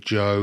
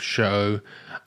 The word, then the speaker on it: Cho: detective Cho I um got detective chose name wrong a bit there I said Detective Joe a few times but his detective show um but yeah with